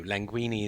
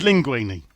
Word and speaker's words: linguine: with caviar was just linguine that's like squid in it no languini is a it's a pasta i thought that was linguine yeah it's linguine did i say languini